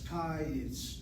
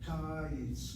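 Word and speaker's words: קיץ: I conclude that my first syllable is open with a short vowel, and that's why it is accented. The word is pronounced as kayitz, not kayitz.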